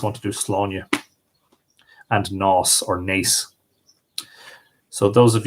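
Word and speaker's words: Nás: So this is Nos or Nace, and the town of Nace is in County Kildare.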